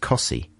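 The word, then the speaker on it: Costessey: There's another place very near Wymondham that's spelt Costessi, and it's pronounced Cossi.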